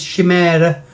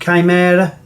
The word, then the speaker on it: Chimera: to pick up this it's I used to pronounce it as she murder but do actually believe it's pronounced chimera and it's from the Firebird super silver range